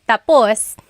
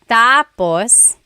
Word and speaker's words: tapos: So, when it's tapus, when the emphasis is at the end, tapus, that means finished. When the emphasis is on the first syllable tapos then it means next.